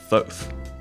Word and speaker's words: Thoth: So it's actually pronounced Thoth.